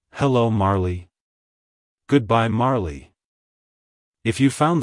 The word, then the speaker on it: Marley: times it's pronounced as Marley Marley Marley to pronounce it correctly emphasize the first syllable Mar and pronounce the second syllable Lee as in flee like hello Marley goodbye Marley if you